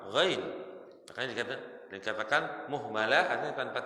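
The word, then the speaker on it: غين: Kalau pakai titik itu bacanya apa, Mas? Ain pakai titik itu apa? Ain pakai titik baca apa? Ghain.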